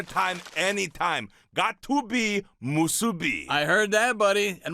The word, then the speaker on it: musubi: of seaweed, rice, and that salty, salty pork, musubi. Oh, you nailed the pronunciation, brother.